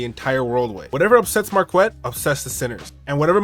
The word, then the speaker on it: Marquette: his name is mispronounced it's pronounced marquet Devon Burton but often people pronounce it Marquette any well adjusted person